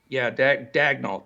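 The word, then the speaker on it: Daigneault: but he's the gentleman that we can never pronounce his name that took over at Oklahoma City. Dagnall. And in my opinion, Dagnall, that's it.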